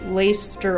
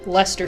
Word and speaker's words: Leicester: Empire the holy kingdom of Fargas or the laced ster alliance or I guess Leicester alliance is the correct pronunciation there because it is named after Leicester sure which is a region in the United